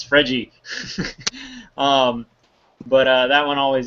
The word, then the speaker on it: Fred: that striker Fred and it's not Fred its Freddie um but that one